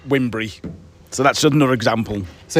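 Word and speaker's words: Wybunbury: Um there's a place called um Wimbury, which is spelled Y Bumbry, but everybody says, "All right, okay, what does that mean?" And it's actually pronounced Wimbury.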